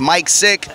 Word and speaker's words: Micx Sic: social media website everything m-i-c-x-s-i-c that's mike sick or if you just